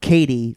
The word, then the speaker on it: Katie: that one did you so it's it's Katie like Kevin Durant like KD oh KD okay okay